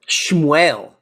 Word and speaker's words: Shmuel: But it's like still because it's also like Shmuel is such a schlubby sounding like Shmuel. And it rhymes it sounds like whale.